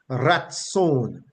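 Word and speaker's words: ratsown: derived that word is transliterated from the Hebrew to English as r a t s o w n and it is pronounced Raton rat rat meaning the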